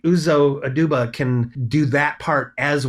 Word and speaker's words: Uzo Aduba: How do you pronounce her name? Uzo Aduba. I actually think that's right. Nice. Yes, Uzo Aduba.